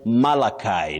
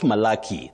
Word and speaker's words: Malachi: Then Malachi not Maliki.